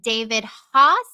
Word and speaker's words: David Haas: being joined by trial attorney in NFL agent David hos am I pronouncing that right David you are you are